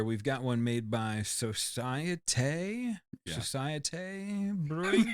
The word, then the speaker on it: Societe: So for our ultimatum beer, we've got one made by Societe. Yeah. Societe Brewing. It's just Society.